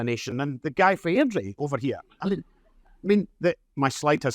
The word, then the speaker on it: Airdrie: You don't pronounce T's in Airdrie.